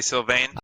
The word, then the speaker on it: Sylvain: How do you pronounce that, Jaime? Sylvain? Sylvain. Sure. So I'd say Sylvain.